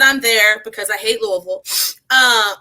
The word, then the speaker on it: Louisville: because so I'm from Alexi in Kentucky and Louisville which is the the correct pronunciation L I've always heard um we don't